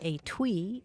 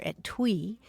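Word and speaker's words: etui: sure to come across the word a twee or at twee it's spelled e-t-u-i and it means a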